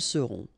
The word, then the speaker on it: seront: sera, nous serons, vous serez, ils seront, elles seront. Okay, so one more time. Je serai, tu seras, final S not pronounced, il sera, elle sera, nous serons, final